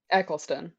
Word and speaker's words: Eccleston: nice how do you say his last name Eccleston Eccleston I've been you know him because of